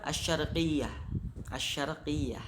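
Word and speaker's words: الشرقية: Contohnya asyarqiyatu itu ketika ditulis, tapi ketika diucapkan asyarqiyah.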